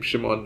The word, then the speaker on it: Szymon: the interesting part like how both of our names have literally pronounced the same Shimon right so when tillin